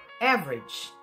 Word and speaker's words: average: Então, apesar dessa palavra aqui ser age, a pronúncia, né? Nessas outras, você não vai pronunciar como age, você vai pronunciar como se fosse um i curtinho.